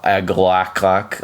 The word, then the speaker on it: Agalloch: Mirror of the Spirits from uh from Agalak or uh Agalak, uh as Headbangers Ball want to pronounce it, which by the way, let's let's talk for a moment about Headbangers Ball.